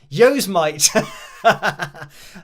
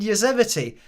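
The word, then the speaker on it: Yosemite: on your Mac and I said something like y Mite and he said oh do you mean yosity and I said yeah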